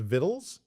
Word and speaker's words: victuals: It could be pronounced vittles.